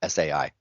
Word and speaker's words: Sai: So if I were going to guess, I would say Sai, but I don't know. How do you pronounce Sai? Yeah, exactly.